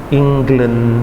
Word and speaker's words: England: Jadi bacanya harusnya dari yang England itu bacanya England ya, ada g juga, England gitu ya, England. Oke, bukan eng salah.